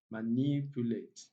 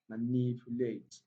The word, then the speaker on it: manipulate: Number four, we have manipulate, manipulate, manipulate. Yes, from the way I pronounce the word, a word that ends with ate, just count three syllables backward.